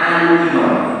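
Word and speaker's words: آل عمران: Nah dia dibaca Ali Imram karena sebagai ilai dengan kata sebelumnya yaitu surah suratu Ali Imran. Tapi kalau gak ada surahnya maka dibacanya Alu Imran. Nah gitu. Jadi ini agar kita tidak keliru me membacanya menjadi alim nur pakai alim. Kalau dibaca pakai ain malah keliru gitu.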